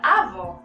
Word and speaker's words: avó: Na palavra avó, eu tenho acento agudo.